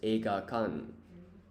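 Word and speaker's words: 映画館: And a cinema is eigakan. So close but not quite right. So it ends in an N.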